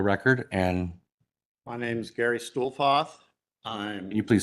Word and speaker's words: Stuhlfauth: Okay, can you please state your name for the record and My name's Gary Stuhlfoth. I'm can you please spell that for Tony? Gary. Your last name. It's S. No. Stuhlfauth. Stuhlfoth.